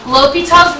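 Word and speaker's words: L'Hôpital: L'Hopital's rule can fix it.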